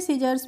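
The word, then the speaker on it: scissors: means क्या होती है सीजर्स मींस होती है कैची तो फ्रेंड्स आपने इन वर्ड्स में देखा कि हमने यहां पर जो सी दी गई है इनका प्रोनाउंस एशन यानी कि उच्चारण नहीं किया है तो हमने इनको पढ़ा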